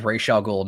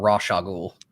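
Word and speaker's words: Rochelle Goyle: in the animated show I've always known it was Rochelle gold not raw sugar or Roz uh how many different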